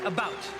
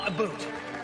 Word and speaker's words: about: french not american and i pronounce it about not a boot i can proudly sow